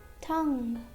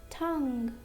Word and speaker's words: tongue: Letter U is silent after a G and before a vowel. For example, colleague, guitar, guitar, guidance, guidance, guest, guest, guilty, guilty, tongue, tongue, guard, guard, guess, guess,